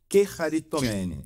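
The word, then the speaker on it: κεχαριτωμένη: Quearitomeni. Isso. Quearitomeni. Quearitomeni. Essa eu entendi. Chega de graça. Isso. Esse esse essa eu sei. É. Essa pronúncia é a pronúncia do grego moderno.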